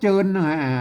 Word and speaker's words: เจิน: ว่า โจร นะ ครับ เจิน ไม่ ใช่ อ่าน ว่า เชิญ นะ ครับ อ่าน ว่า เจิน อ่าน ว่า เจิน อัน